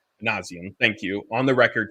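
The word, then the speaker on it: Minasian: Ron, how do I pronounce the Angels GM last name? Manazian.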